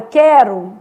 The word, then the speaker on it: quero: por exemplo em quero quando eu pego a palavra quero e faço a transcrição fonética dela né O u some ó quero são cinco letras e quatro fonemas né Então essa vai